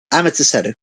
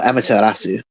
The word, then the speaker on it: Amaterasu: Amaterasu. Or Amaterasu, sorry. I've been saying her name wrong a lot.